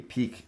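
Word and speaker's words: piquet: full uh peak and i'm going to pronounce it as p-i-q-u-e-t peak is that a peak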